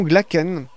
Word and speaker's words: Glacken: il y a une petite note là selon glacken je ne sais pas qui a eu je